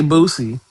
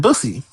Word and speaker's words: Boosie: No, you say Boosie. That's what I said. No, you said Bussy.